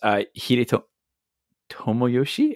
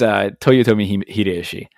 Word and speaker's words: Toyotomi Hideyoshi: Oh God, I can't even pronounce his name sometimes. Hideto Tomoyoshi. Oh my goodness, the guy that's on the I want to say, is it the Ichiman? No. Senen? No. It's Toyotomi Hideyoshi and Date Masamune.